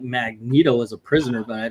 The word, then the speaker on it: Magneto: It's not Magneto. It's pronounced Magneto.